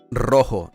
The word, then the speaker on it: rojo: Rojo. Yeah. Literally the color red is rojo. You need to roll your Rs. Rojo.